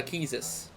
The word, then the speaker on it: Quistis: i get it um because she actually it's pronounced uh keysis or keys yeah it's fresh it's french yeah